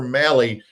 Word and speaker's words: Mahle: It's Mali. It's spelled M Ahle E, but it rhymes with rally.